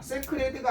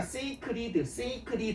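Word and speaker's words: sacred: 세크레드가 아니라 세이크리드. 발음이 이렇게 돼요.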